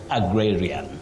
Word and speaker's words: agrarian: That is agrarian, agrarian, not agrarian. Sometimes people find themselves mispronouncing words because of the spelling, but this one you say agrarian.